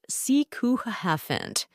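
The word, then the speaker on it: sycophant: finally we've got cant it's a noun pronounced seant and it's the perfect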